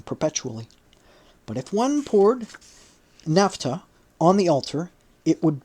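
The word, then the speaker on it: naphtha: be kept burning perpetually but if one poured NAFTA on the altar it would burst into flame spontaneously the people would then consider it a fire which had come from heaven Napa spelled n a p h t h a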